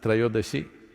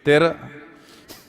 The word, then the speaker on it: Trayodashi: It is Dhanavantari's Trayodashi. North Indian people must connect, don't go on clipping away one syllable and come Dhanavantari becomes Dhan, Trayodashi becomes Tera. Don't keep clipping it away So, here we are.